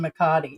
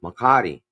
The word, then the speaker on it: Makati: He said it's a difference between day and night when you live, and even in Makati.